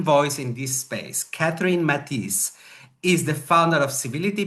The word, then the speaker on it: Mattice: Katherine, welcome to the show and I hope that I have pronounced your name because it's a French name, Matis, right?